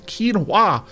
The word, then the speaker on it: quinoa: And I felt a little bit sheepish when people said, no, it's not quinoa, it's quinoa.